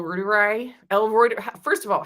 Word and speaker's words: reuteri: reuteri. First of all, how do you pronounce? Think of the news service from the UK, Reuters.